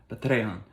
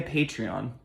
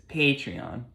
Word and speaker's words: Patreon: Patreon. But it's not. I'm making a Patreon. There it is. Patreon.